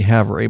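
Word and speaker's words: Havre: North Dakota to Haver even though they spell it wrong it looks like Cavalry we were saying have Ray until one of uh Lee's buddies said oh no that's Haver yeah Haver seven hours Ease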